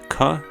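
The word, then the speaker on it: क: Basically, it's the same as our letter K or the hard C sound in English. Ka as in come.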